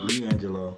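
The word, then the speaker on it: LiAngelo: Leangelo, I said it right.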